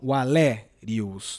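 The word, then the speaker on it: Valerius: Olha, breve, então, Valérius, né?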